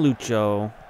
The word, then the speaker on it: Lucho: Finally figured out how to pronounce his first name. They call him Lucho.